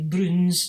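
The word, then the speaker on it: Broons: So it's the Browns, but it's spelled the Scottish slang way, Bruins, B-R-O-O-N-S, and Oor Willie, Oor, O-O-R, Willie, as in Williams, his name, W-U-L-L, Willie.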